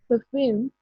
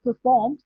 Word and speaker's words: perfume: Perfume, don't pronounce it like perform because it's a different word. You know the word perform, right? Perform is like you dance, you give performance, so it's perform, and but this is perfume.